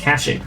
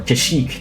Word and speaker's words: Kashyyyk: We just only need to do one, and that is Kashyyyk, or Kashyyyk, depending on which pronunciation you like.